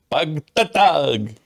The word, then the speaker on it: Pagtatag: I love how you pronounce that. Pagtatag. Yeah, you have to have that exclamation.